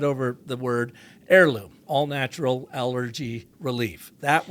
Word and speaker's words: Airloom: Yeah, Heirloom is spelled phonetically, right? Yeah, exactly as right. opposed to the real word heirloom, which has a silent H.